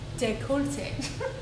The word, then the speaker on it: décolleté: Décolleté. So she's telling me the right way to say it. Décolleté. Décolleté. There you go. That's French. It's a French name.